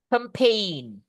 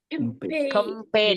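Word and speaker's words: campaign: The first you can say compain. Campain G-nya enggak dibaca, Guys, ya.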